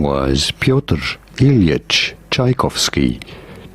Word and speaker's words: Tchaikovsky: How do you go about pronouncing it? His full name was Pyotr Ilyich Tchaikovsky. Tchaikovsky.